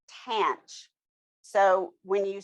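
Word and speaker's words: tanh: at all it's abbreviated with t-a-n-h and it's pronounced tant so when you say it you say tant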